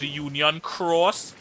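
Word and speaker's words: Union χ: Union X is pronounced Union Cross Y.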